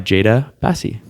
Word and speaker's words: Jada Basi: And on today's episode, we're actually joined by Jada Basi. Did I pronounce that right?